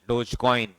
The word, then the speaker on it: Dogecoin: do all these things you can buy cryptocurrency Dogecoin it's pronounced as Doge coin right that is the